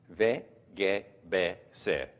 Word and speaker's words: WGBC: In Swedish, it is much quicker. Ve-ge-be-se. Ve-ge-be-se.